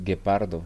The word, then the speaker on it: guepardo: G-U like gay, right? G-U-E. Gay. Guepardo. Sí, ge, gi, gu.